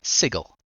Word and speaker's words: Sigil: but the place that we are in is sigle uh don't get it wrong they do make